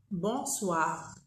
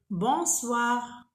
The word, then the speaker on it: bonsoir: Bonsoir, bonsoir. On ne dit pas bonsoir, bonsoir, c'est faux. Bonsoir, ça s'écrit bonsoir, mais on dit bonsoir. On ne prononce pas le N.